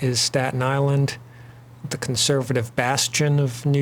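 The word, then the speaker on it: Aislyn: And the avatar for Staten Island sort of embodies that and that this is island hulahan and that's island as the Celtic name.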